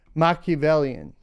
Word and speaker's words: Machiavellian: huh bam let's do it how do we pronounce it let's let's listen let's listen machiavellian all right there we go all right machiavellians